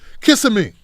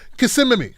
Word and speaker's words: Kissimmee: hispanic heritage month event with joe biden and kissimmee kissing me that's it kissimmee florida okay here we go now this is